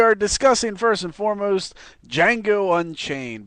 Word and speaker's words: Django: So we are discussing first and foremost Django Unchained because the D is silent.